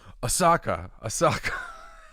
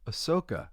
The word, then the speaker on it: Ahsoka: And I kept saying Osaka. They're like Ahsoka. And I was like, oh, that's right. I can't say it right.